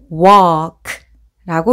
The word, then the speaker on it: walk: 그러면 walk라고 읽으시면 되고요.